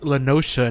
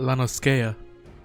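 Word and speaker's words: La Noscea: I just learned that it's pronounced Lanosha, not Lanoskea.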